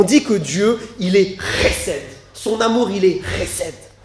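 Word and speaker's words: חסד: Ça se prononce chesed, avec un R bien guttural.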